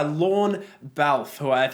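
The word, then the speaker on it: Lorne Balfe: the soundtrack is by lon valve - that's how you pronounce his name he's a frequent collaborator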